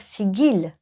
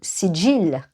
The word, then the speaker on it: sigil: Chaque sigil, ou sigil, on dit aussi, tout dépend comment on veut le prononcer, est créé par le praticien lui-même chargé par son énergie.